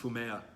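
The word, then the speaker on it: 踏み絵: a little icon, which in Japanese is called fumea. It looks like it's spelled fumi in the book, but I happen to know from a Japanese speaker that I've had in class before that it's pronounced fumea, this image of Jesus' face.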